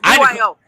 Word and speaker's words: BYO: Your saber company is called, do you pronounce it BYO? Is that what you call it? Yes, BYO.